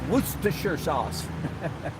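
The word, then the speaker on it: Worcester: pronounced gunnel I believe kind of like wer sauce if from for from England I believe it's all one syll wer sauce be that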